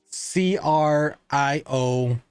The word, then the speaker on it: Criollo: Criollo. Criollo. And with a Spanish accent, the LL is technically a Y. Whenever you see two L's on anything that's Spanish, you pronounce it with a Y.